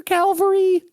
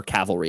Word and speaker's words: cavalry: Um so it almost acts like a moon shaker calvary in um or cavalry, I'm sorry, I always mispronounce that.